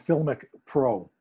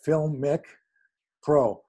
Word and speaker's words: Filmic Pro: Well, I shoot through what's called Filmic Pro. It's spelled F-I-L-M, like film, with I-C at the end of it, Filmic Pro.